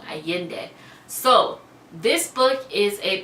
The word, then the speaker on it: Allende: I keep saying her last name wrong. Allende.